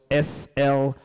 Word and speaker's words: Slido: Slido is spelled S-L-I-D-O.